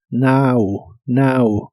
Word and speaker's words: now: Now que significa ahora la o se pronuncia como una a Now Now y usaremos las palabras